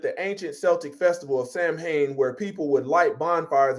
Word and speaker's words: Samhain: Halloween origins date back to the ancient festival of Samhain, I was pronouncing that wrong, Samhain.